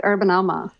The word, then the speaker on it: UrbanAMA: So should I pronounce it UrbanAMA or UrbanAMA? Which do you prefer? We like UrbanAMA.